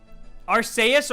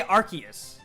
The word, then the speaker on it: Arceus: you want you know deox is a hundred percent arceus or archaea so i say arceus well no i say